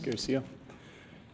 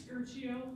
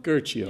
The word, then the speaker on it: Garcia: Garcia. Am I pronouncing that right before I continue on? It's Gercio. Gercio.